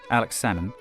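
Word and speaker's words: Alex Salmond: SNP leader this man Alex sammon you don't pronounce the L like with the fish became Scotland's first Minister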